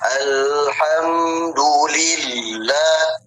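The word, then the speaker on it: الحمد لله: Nah, maka cara bacanya alhamdulillahirabbilamin. Alhamdulillah. Nah, di situ ada tasdid, Teman-teman.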